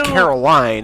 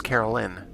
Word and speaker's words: Caroline: crazy too it's like the name is caroline and it keeps being pronounced as carolyn i mean she did